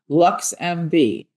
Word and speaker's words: LXMV: LXMV, pronounced LuxMV, is Chicago's first ever